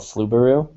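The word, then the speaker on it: Flubaroo: to grade it is called fluberu spelled like that f-l-u-b-a-r-o-o yep it's free it's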